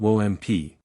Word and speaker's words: WMP: WMP pronounced WOMP.